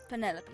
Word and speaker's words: Penelope: Is that short for Penelopey? Officially, yes, but I never can be bothered with all four syllables of it. Penelopey sounds a little ostentatious coming out of the mouth, don't you think?